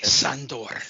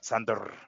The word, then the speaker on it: Sandor: Say it correctly, Sandor. Sandor, at the roll the R's at the end.